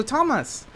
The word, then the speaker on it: Tomas: Is Tomas or is it Thomas? How do you say your name? Oh, you say it's Toma. But Toma. I don't mind either way. Yeah. Oh, Toma.